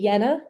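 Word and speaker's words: Jena: Um, so I want to talk about something called the Yenna experiment. It was an experiment in Germany in the early 2000s and it's actually spelled with a J if you're really curious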